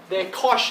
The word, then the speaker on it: cosh: They're cosh and shine. Don't ask me why, that's just why people pronounce it that way.